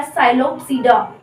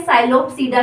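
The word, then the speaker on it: Psilopsida: इसको बच्चों आप फिर से गलती करोगे, पी साइलेंट रहता है, इसमें ध्यान रखना, वरना इसको बोल दोगे तो साइलोप्सीडा, ये नहीं होगा, गलत हो जाएगा आपका, इसीलिए मैंने आगे हिंदी में लिखा भी है साइलोप्सीडा।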